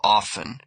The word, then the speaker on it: often: Silent T. Listen, castle whistle often.